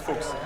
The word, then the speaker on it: Fuchs: It's like Fox in English. It's like in Germany it's Fuchs. Fox. It's almost Fox.